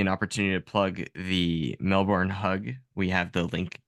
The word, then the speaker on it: Melbourne: out because this is so Melbourne or Melbourne As Americans say it's totally fine we've